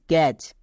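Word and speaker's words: catch: টি হবে ওকে তাহলে বি এ টি সি এইচ ব্যাচ একই রকম ভাবে সি এ টি সি এইচ ক্যাচ next F এ টি সি এইচ ফ্যাচ এবার এখানে দেখো প্রত্যেকটি টি সাইলেন্ট কেন কারণ টি এর পরে সি এইচ আছে বা এর ক্ষেত্রে আরেকটি নিয়ম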